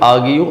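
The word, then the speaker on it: argue: अब आर्ग्यू लिखते हैं लेकिन उसको पढ़ेंगे आर्ग्यूयू आर साइलेंट है।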